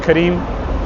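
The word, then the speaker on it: Careem: question Transportation Transportation you have Uber you have Karim Karim is like the equivalent of uber it's spelled c a r e e m which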